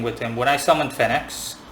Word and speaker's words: Phenex: When I summoned Phenex, I'm simply going to say Phenex. Okay, pronounce it however you want. When I summoned Phenex, or Pheynix, when I summoned Phenex